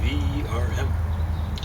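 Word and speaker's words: Wurm: The original Latin, V-E-R-M. Of course, worm in German is spelled with a W, but it's pronounced something like verm.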